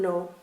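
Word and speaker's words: hanno: quickly yeah yeah yeah the letter H exists in the Italian alphabet however you never pronounce it it's always silent you can see it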